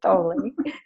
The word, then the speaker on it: Thoele: I know I'm pronouncing it correctly, Thoele.